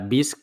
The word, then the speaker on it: Bisq: Pues nada, no demoremos más y saltemos al tema, que es BISC, como decíamos antes, se escribe BISQ.